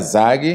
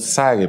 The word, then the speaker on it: Zague: Bueno en portugués sería zage Ah okay Y en español sage porque la diferencia es que eh en portugués la z si se pronuncia muy marcada no y aquí se pronuncia como ese sague no entonces en portugués